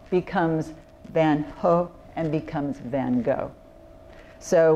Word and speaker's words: Van Gogh: the first individuals through those doors was Vincent van go by the way just a word about pronunciation the correct pronunciation of his last name